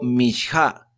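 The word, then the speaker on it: מנחה: dice el comentario que la palabra ofrenda se pronuncia en hebreo mha la palabra mha no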